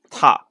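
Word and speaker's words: た: Ta. Oh, sorry. Yeah, I'll go through in a minute, but it's pronounced.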